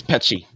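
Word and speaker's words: Peccei: popular communication about it um relative I was pronouncing it wrong field it's it's py Roberto py but the py Quinn theory was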